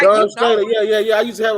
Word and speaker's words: Dawn Staley: Dawn, well, you didn't say her name. Her name is Dawn Staley.